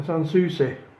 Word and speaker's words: Sanssouci: It's I have to get the pronunciation right on this. A Sanssouci, which is French for Carefree.